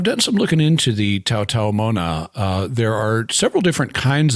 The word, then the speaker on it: Taotaomo'na: The apostrophe is a glottal stop there, so it Taotaomo'na. Although it's not always pronounced.